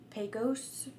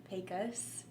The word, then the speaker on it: Pecos: It's either like Pecos, Pecos.